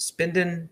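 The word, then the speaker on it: Spedn: the spin den app it's spelled spe D in but pronounced spendin trying to I don't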